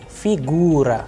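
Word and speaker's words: фигура: Then we have figura, figura, which means figure, and in this specific case you can see the udarenie is on U, U, figura, that is why the sound of U is higher.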